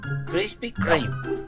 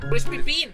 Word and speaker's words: Krispy Kreme: Krispy Kreme.